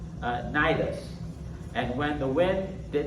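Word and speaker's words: Cnidus: Verse 7, we made slow headway for many days and had difficulty arriving off, and that's pronounced Nidus.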